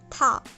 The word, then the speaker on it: 타: First, tha, tha.